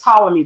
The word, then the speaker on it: Ptolemy: It's spelled with a P, but it's Ptolemy Gray.